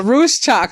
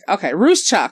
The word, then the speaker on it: Ruscsak: Ruscsak. Ruscsak. Okay. Oh, okay. Now it's a little bit clearer now. It's clearer now. Ruscsak. Okay. I think I was getting that little. Okay. Ruscsak.